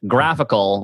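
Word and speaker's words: GraphiQL: the normal uh graphical so it's g-r-a-p-h-i-q-u-q-l pronounced graphical which is super confusing in audio form because it's a graphical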